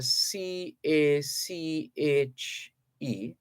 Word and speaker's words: cache: cash comprises uh that's that word is uh c a c h e and it is uh pronounced cache uh it's a it's a a